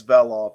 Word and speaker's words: Velov: specifically, is it Mike Veloff? Is that how you pronounce it? Yes, it's Veloff. It's Macedonian. We don't have a hard E.